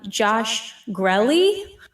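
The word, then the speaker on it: Josh Grelle: So I always used to say his name wrong. Now I know how to say it right. Josh Grelly, who voices Armin from Attack on Titan and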